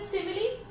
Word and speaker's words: simile: This is, आप कुछ सिमिल pronounce करते हैं, but actually the correct pronunciation is सिमिली.